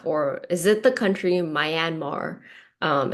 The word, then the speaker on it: Myanmar: Or, "Is it the country Myanmar?" Um, it's it's not it's pronounced Myanmar.